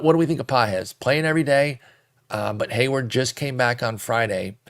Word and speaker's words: Pages: hit Andy pz looks like pages but it's pronounced pz 274 average four homers a steel 13 runs